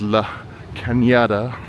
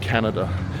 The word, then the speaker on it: La Cañada: looks a bit like “Canada,” but it’s not Canada, it’s Cañada. The “n” has a squiggly thing (tilde) over the top, which means it’s pronounced like an “ny” sound, Cañada, not Canada.